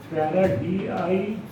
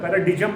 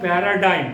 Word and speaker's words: paradigm: So यहाँ G का उच्चारण नहीं होता है, पैराडिजम मत बोल देना, it is a paradigm.